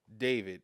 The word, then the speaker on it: D4vd: Uh, in a courtroom on Thursday, a prosecutor claimed that singer uh, David, but his name is spelled D 4 V D.